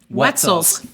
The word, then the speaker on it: Wetzel: it rhymes with pretzel.